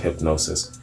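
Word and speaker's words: Hipgnosis: the album's artwork from hip hip gnosis 8i PG n OS is I guess it's pronounced hypnosis featured several photographs centered around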